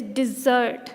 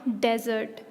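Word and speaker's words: dessert: our dinner or lunch is desert not desert desert is what desert is huge spreads of sand that desert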